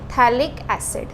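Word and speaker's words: phthalic: यहां पे क्या है थैलिक्स p साइलेंट रहता है इसमें है ना थैलिक्स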